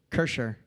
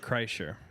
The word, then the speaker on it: Kreischer: Kersher. How do you say it? I want to send it to them because they always fuck around. They're like Burnt Chrysler. It's Bert Kreischer.